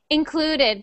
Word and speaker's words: included: Included. Good. And not this one is about the stress on the syllable. So we stress the syllable clue. So we say clue the loudest.